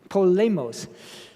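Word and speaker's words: πόλεμος: Polemos.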